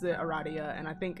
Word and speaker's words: Aradia: apparently her uh radius route it's called it's pronounced eradia and like i feel like this is targeted at me specifically because i refuse to not pronounce her name a radio let's see i know what a